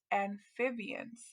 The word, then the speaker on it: amphibians: It's spelled a little bit different than what we're used to, but if we sound it out together, remember that PH makes the F sound.